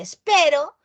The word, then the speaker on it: espero: Una se pronuncia espero y la otra se pronuncia esperó.